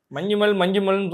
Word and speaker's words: Manjummel: அந்த மஞ்சுமல் தான், மஞ்சுமல்னு சொன்னேன், அதுக்கு ஏதோ கரெக்டாக பேர் ப்ரொனவுன்ஸ் ஆக்சுவலி அவங்க ப்ரொனன்சியேஷன் வந்து மஞ்சுமல்.